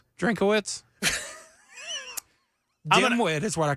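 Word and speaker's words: Drinkwitz: is that a three is his last name three syllables? Have I been saying it wrong? I thought it was Drinkitz. Drinkawitz.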